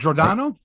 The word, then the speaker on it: Giordano: with you by the way you're saying his name wrong it's giordano it's not giordano what's rodano marc jordano got it and i should know this because